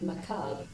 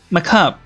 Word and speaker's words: macabre: Somewhat macabre. Oh, is that how you say it? Macabre, not macabre.